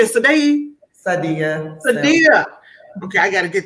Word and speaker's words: Saadie: Let me tell you, Miss Sadie, how do you say it? Sadia? Sadia.